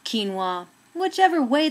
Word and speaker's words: quinoa: quin quin chin kin way pronounced provides so much nutrition